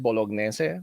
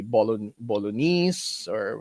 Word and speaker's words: bolognese: No, in Italian, it's they pronounce it bolognese. Although it's been sort of anglicized to be bolognese, but essentially it comes